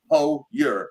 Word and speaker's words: Hoyer: Hoyer, as in you're.